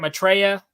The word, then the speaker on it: Maitreya: Maitreya?